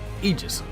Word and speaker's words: Aegis: Also, just notice he pronounced it as Aegis, as if the A's not even there. It's not Aegis or Aegis, it's Aegis.